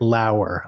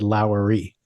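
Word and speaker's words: Lower: to complain about it so it's Brit laer I'm sorry I said lowy but any L someone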